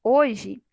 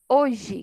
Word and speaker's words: hoje: palavrinha hoje a palavra hoje eu não ouço o som da letra h né o a letra h na verdade é início aí de palavras ela não tem som nenhum ela não emite nenhum fonema ela não representa nenhum fonema então aqui hoje quando eu falo hoje eu escuto o fonema da letrinha ó eu escuto o som fonema da letra j e da letra e mas da letra h não então poderia dizer aqui